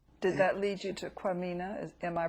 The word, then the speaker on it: Kwamina: Did that lead you to Kwamina? Am I pronouncing that correctly? Kwamina.